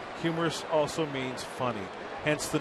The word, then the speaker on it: humerus: the end of the humerus bone, which is pronounced humerus. Humerus also means funny, hence the name funny bone.